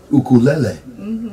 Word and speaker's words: ukulele: Well, you know, Michelle's son Aiden was playing us a lot of good ukulele. Oh, you pronounced it correctly. That's right. Most people are like ukulele, and it's like, come on.